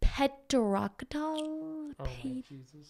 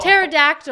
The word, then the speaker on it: pterodactyl: Petrocdal? Petrocdal? Wait, how do you say that dinosaur? Oh, pterodactyl.